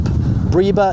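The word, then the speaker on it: breba: which has what we call a briba crop briba is spelled b-r-e-b-a that means it produces two crops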